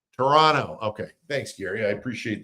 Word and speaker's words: Toronto: Toronto, the second T is silent. Toronto. Toronto.